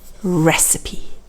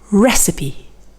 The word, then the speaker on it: recipe: and the word is recipe it looks like recipe but actually we do pronounce the e at the end and that's very uncommon in english the stress is at the beginning recipe now over here we